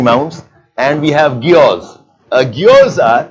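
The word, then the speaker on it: guyots: Geodes are, you pronounce as geodes, G-U-Y-O-T-S.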